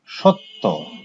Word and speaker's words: সত্য: যেমন সত্য, এটা হচ্ছে শব্দ, উচ্চারণ কি হবে সত্য, সত্য। কি হলো এখানে একটা ত আছে, তার সঙ্গে জফলা যুক্ত আছে, কিন্তু উচ্চারণ কি হলো ত দ্বিত্ব হলো, দুবার উচ্চারিত হলো।